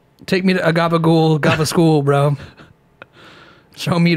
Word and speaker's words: gabagool: Take me to a gabagool, gaba school, bro. Show me the way. The pronunciation of gabagool, a mutation of the word capicola, might surprise.